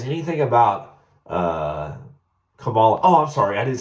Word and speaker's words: Kamala: says anything about uh Kamala oh I'm sorry I didn't say it right remember he jumped Ronda Sanders last night it's Kamala Kamala Harris it's not Calo how disrespectful it's Kamala